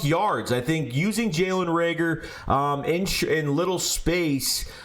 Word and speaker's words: Reagor: ward uh to uh jalen rieger sorry rager jaylen rager because i say it wrong everyone keeps saying so